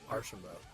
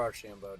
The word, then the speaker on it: Archambault: Archambault. Archambault, okay. Yeah, or Archambault, depending on what part of Canada you're from.